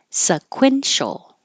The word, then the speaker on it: sequential: round your lips sequence sequential sequential sequent with a t you just hold you won't hear it and tempor tempor